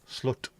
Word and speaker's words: slot: Pronounced like the English slur. Slut.